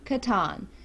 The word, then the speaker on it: Catan: We understand that it is technically Catan, but we're from West Virginia. We have never heard it pronounced that way. We've always heard it pronounced Catan, so that's what we went with.